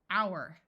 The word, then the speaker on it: hour: can add suffixes honestly this oou is going to say ow hour hourly herb note that in